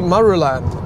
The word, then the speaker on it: Marulan: Okay, so on your left there, you'll see BP Marulan. I still can't really pronounce that, sorry.